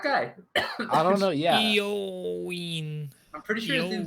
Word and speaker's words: Eoin: Eoin. Saying it was also an ancient city, a Greek Eritrean colony. Eritrea is not really. I mean, it's Owen. Greek, but it's. It's pronounced Owen.